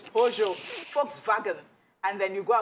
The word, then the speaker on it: Peugeot: Peugeot, you say Peugeot in Nigeria, Peugeot, it is Peugeot.